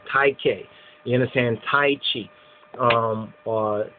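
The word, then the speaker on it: Tyche: So Tai Chi or TK or Tai K.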